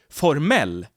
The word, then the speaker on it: formel: formal but also formel the stress moves from the first syllable to the last syllable formel which means formal the same goes for